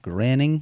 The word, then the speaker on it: Groening: people out there that are actually 100% convinced that your man Matt Groening, is that how he said it? Groaning, is it? Or It's spelled groaning, but I've heard people say graining, Oh, whatever.